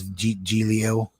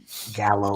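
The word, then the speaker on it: giallo: I think the real pronunciation is Giglio. Yeah, I think so. Yeah. Yeah, but I think in the U.S. most people call them Gallo or Gallo.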